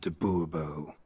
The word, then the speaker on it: du Bois: bobo whatever fine monsieur du Bois the emphasis falls on the last syllable bull bull if you